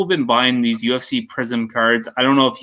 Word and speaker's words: Prizm: Prizm, it's Prizm, but spelled with a Z.